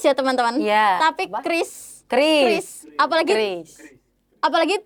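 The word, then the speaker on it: QRIS: Kalau Kris itu penyebutannya bukan curis ya, Teman-teman, tapi Kris.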